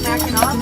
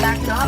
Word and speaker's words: Mackinac: So when the French settled in this area, they called it Mackinac, but they just spelled it with an AC. Later, when the English settled in this area, they also pronounced it Mackinac, but they pronounced it with an AW.